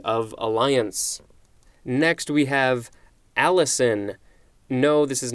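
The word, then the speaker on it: allicin: for a Treaty of Alliance next we have Allison no this is not the name this is spelled al i cin although i guess you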